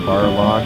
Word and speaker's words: Balrog: Now his name is spelled Balrog, but in the other version, the new challengers, they call him Barlog.